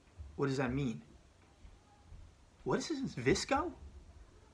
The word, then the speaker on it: VSCO: what is that what does that mean what's visco like VI know the eye is silent disco so it's the Instagram and it's